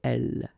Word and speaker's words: elle: Okay, so here is not pronounced, and it's not pronounced here. You don't say elle, but then you say elle, elle. Elle parle.